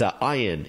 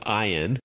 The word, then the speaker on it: Ian: and say that he's one of he is iein in the show or Ian if you see it how it's spelled out I am but pronounced I on and he is sort of the head of